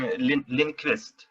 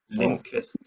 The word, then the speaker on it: Lindqvist: So I guess I would have to rough and hope for to What is the correct pronunciation of your partner's name? Elspen is his first name, and Lindqvist. Lindqvist.